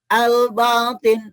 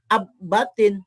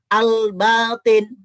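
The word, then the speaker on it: الباطن: itu adalah alqamariah contohnya Ini bacanya albatin bukan AB batin tapi AL nah lamnya dibaca terang jelas nih albatin Begitu juga bacanya alutar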